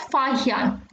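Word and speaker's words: Faxian: So the best known of these are Chinese Buddhist pilgrims Fa Yan, Yunzang and I King. X is to be pronounced as H. So you will read this as Fa Yan and this is Yunzang and I King.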